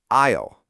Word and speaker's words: aisle: The s is silent, so it's pronounced isle.